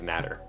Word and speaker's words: natter: matter i'm gonna say it's natter n-a-t-t-e-r the the the pronunciation key says capital nah so emphasis on naf and tur not nader nat i don't know why